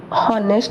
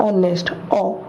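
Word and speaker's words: honest: ऑनेस्ट वैसे ही जो ऑनेस्ट, यहाँ पे ही सेम, यहाँ पे एच जो है साइलेंट है, हम बोलते हैं हॉनेस्ट नहीं बोलते हैं ऑनेस्ट।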